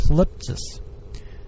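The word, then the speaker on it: θλῖψις: It's used to translate the original Greek word of the New Testament, pronounced thlipsis, which means anguish or persecution.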